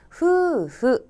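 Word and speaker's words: 夫婦: 그러므로 " 남편 과 아내 " 를 발음 하려면 " 푸푸 " 라고 읽어야 합니다 .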